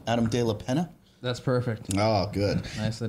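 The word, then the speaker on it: Adam de la Peña: I don't want to pronounce it wrong. Adam De La Pena.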